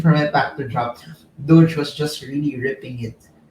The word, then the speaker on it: Doge: Uh, by the way, a lot of people pronounce it differently. There are some people who pronounce it doggy, but I pronounce it Doge.